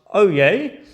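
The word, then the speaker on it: oyez: To attract people's attention, they would shout oy pronounced oay. This comes from the French word to listen.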